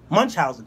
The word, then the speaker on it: Munchausen: Munchausen? What do I say? How do I say it? Munchausen.